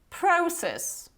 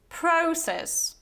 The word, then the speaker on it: process: And now the proper British pronunciation will be process, process, okay? So it's not process, it's process. And now American pronunciation would be process, process. So instead of this O sound, you have this process, okay?